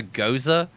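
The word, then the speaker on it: Gose: the funniest part about it being called a Gaza is the fact that it is literally spelled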